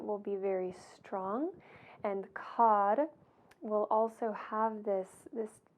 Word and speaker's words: Kar: This is really pronounced more like a D. So Kar and Tar.